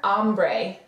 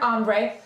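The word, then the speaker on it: hambre: okay so repeating tener ombre and that a that H is silent so it just sounds like it starts with an A tener ombre which is to be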